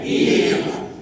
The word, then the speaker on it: give: give, এর sound কিন্তু নেই, গিভি নেই কিন্তু, গিভি। ই যখনই লাস্টে থাকে তার সাউন্ড জেনারেলি বন্ধ থাকে, ই যদি লাস্টে থাকে তার সাউন্ড জেনারেলি বন্ধ থাকে, ঠিক আছে?